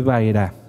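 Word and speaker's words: Vaera: por favor va era Cómo se escribe baira ahí lo tienen en su pantalla la letra Bad Ahora sí suena como V porque suenan de una forma o de otra No se preocupen poco a poco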